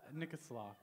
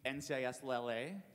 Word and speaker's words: NCIS LA: How is Nikislaw? Sorry, what? I don't know if I'm pronouncing it right. Nikislaw. Oh, you mean NCIS LA?